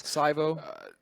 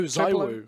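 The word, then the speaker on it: ZywOo: Saivo. Who? Suvo from the French team. Oh, Zaiwu.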